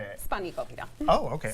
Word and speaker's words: spanakopita: Spanakopita. Oh, okay. Spanakopita.